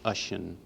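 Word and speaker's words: Oisín: Finn MacCool and his son Oisin, can be pronounced Oisin.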